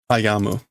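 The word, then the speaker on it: 歩む: What's the alternate word for aruku? Ayamu. Ayande kita. There's that alternate pronunciation for to walk.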